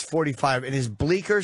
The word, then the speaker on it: Bleecker: Bleecker. The C is silent.